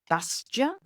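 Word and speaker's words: Bastiat: This book is teaching about Frederick Dusta, I guess, is how you say it. It's a French name.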